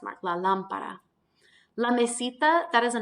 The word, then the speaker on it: lámpara: So we want to pronounce it la lámpara and really put that stress on the first A and not put it where it would naturally fall in the second A.